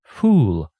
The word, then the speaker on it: fool: it in mind that there are two sounds in the English language uh short and U long and you can protest but there are some words that are very different like full with a short one and fool with a long one full it's the opposite